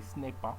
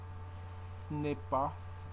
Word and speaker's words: ce n'est pas: So it says ce n'est pas, and some people say ce n'est pas, and you have to say, and they showing that the liaison between pas and a, so you have to say ce n'est pas, ce n'est pas, ce n'est pas ça, ce n'est pas ça.